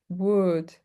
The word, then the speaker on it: would: Okay, so you see wood would chalk could chalk could chalk would and could we don't pronounce the L.